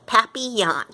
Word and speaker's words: papillon: You say it like this, papillon. In French, it means butterfly.